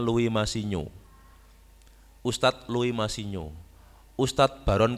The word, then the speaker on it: Louis Massignon: Louis Massignon, orang Perancis, Louis Massignon dibacanya Louis Massignon.